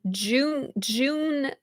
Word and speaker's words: June: And June, okay, you're saying you pronounce the J.